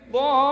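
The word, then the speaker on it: الضالين: Itu mad lazim musaqal kalimi bacanya. Dhallin.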